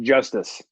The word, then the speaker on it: Justus: Yeah, I think it's pronounced Justice. Justice, yeah, with an I.